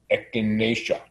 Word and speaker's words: echinacea: When you look at that word, it's hard. It looks like it's hard to pronounce, but it's echinacea, which is part of the daisy family.